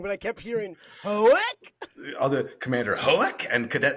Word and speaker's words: Hoek: Did I say it wrong too? Again, we got to keep this in if I keep on just saying everything wrong. Commander Hokei. H O E K. I kept hearing Hoek. Hoek.